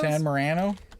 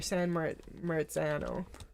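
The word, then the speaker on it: San Marzano: like San Marano Tomatoes San Morano oh no they're uh not San Morano they're San meran yeah that's the nice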